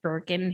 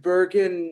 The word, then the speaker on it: Burgin: Everybody wants to pronounce it like a J, but it's a hard J.